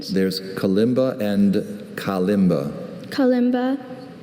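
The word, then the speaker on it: kalimba: Are there any alternate pronunciations? There's Kimba and Kimba. Calima. K A L I M B A. Calima.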